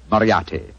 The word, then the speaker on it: Moriarty: my name people will either misspell it or mispronounce it I'm afraid I'll have to begin calling it the way it looks m-o-r-i-a-r-t-y bariati Moriarty I shall remember that name I